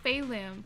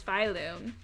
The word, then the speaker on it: Phylum: I always thought it was Phalum, because I swear that's how it was pronounced earlier, and now it's being pronounced as Phylum.